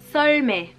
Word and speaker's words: 썰매: Un traîneau en coréen se dit 썰매. J'insiste bien sur la première lettre qui est le S, qui est beaucoup plus prononcé que le S normal.